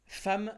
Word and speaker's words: femme: cours déjà aujourd'hui femme ça s'écrit avec un E et ça se prononce avec un a dès le début on